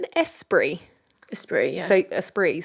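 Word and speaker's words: Esprit: espre espr yeah so espre so you don't pronounce the T no okay the espre earning critical Acclaim and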